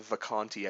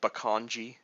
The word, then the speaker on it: Vacanti: Uh, in fact, I've never heard it actually pronounced Vacanti. I've heard it called Bakanji, Vacanchi, or something like that.